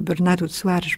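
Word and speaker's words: Bernardo Soares: Bernardo Suárez, ou Bernardo Suárez, pour le prononcer un petit peu à la portugaise tout de même, est certainement l'un des masques de Pessoa.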